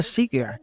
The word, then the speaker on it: Czinger: Seeger, escrito con C Seeger, aunque se pronuncia Seeger, y el nombre proviene de los fundadores de la empresa.